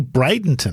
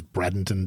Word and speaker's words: Bradenton: this week so you mentioned there it's actually Bradenton I think it's actually pronounced Jimmy I always thought it was Bradon too Bron yep yeah I always thought Bradon